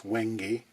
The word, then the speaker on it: wenge: someone say it, you might be tempted to pronounce it as wenge. It's not wenge, it's wenge.